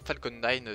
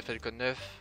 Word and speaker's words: Falcon: La fusée Falcon 9, Falcon 9 si on la prononce à l'anglais. Même Faucon 9 si on veut prononcer tout en français, mais sauf que Faucon 9 c'est moche, Falcon 9 c'est plus beau.